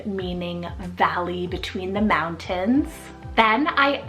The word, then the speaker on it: Valley: and ESV means filled with life Valley spelled v-a-l-l-e-y Valley a gorgeous nature name meaning Valley between the mountains then I added the name